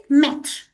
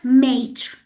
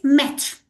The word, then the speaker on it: maître: We call it maître. Guys, be careful. The words that we are using are French words, so be careful about their correct pronunciation.